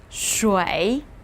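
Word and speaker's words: 水: shan this means mountain as we saw before pronounce with me shui this means water and it used to be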